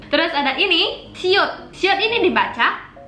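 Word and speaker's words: 시옷: Cara bacanya P atau B. Terus ada ini siut.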